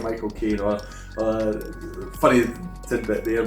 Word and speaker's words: Michael Caine: funny tidbit there my my uncle says if you want to know how to pronounce the name you just say my cocaine as in the drug and then you'll get the exact pronunciation that he himself was